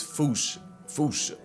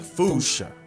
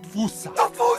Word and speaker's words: fossa: Experts feel free to correct me, but apparently that is the closest to the OG Malagasy pronunciation. It's just that the global game of telephone has Americans saying Fossa, while England pronounces it as Fossa.